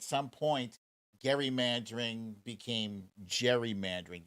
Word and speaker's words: gerrymandering: should have been pronounced gary mandering but at some point gary mandering became gerrymandering they just made the hard g into a soft g uh so back in